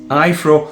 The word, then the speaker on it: Aiffro: I really hope that I'm pronouncing it correct it's AI FF r o ifro P10 let's start all